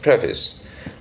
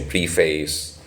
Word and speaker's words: preface: read the preface now the pronunciation of preface is I mean the standard pronunciation of preface is preface um we also occasionally hear this pronunciation prephase that's um kind of that's um the Indian variety of that pronunciation but the standard pronunciation is preface preface or preface slightly the E sounded than preface so let me just